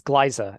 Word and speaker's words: Glyza: So it looks like it's Glyza actually, because it's like Liza Minnelli with a hard G.